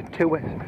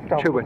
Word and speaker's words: Tewet: Some would say Tewet. Tewet? No, it's Tewet.